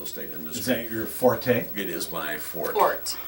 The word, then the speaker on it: forte: Forte. Forte is a musical term, which, you know, just play it strong, okay? But fort is your strength. The E is not pronounced.